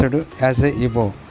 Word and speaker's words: Igbo: We should pronounce it as a Igbo. The spelling G is a silent.